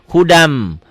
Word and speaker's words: hudan min: Ya, bacanya gimana hudan? Hudam.